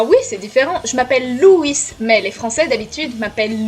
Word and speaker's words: Luís: Je m'appelle Louis mais les Français d'habitude m'appellent Louis. Il y a deux syllabes mais les français le prononcent en une syllabe.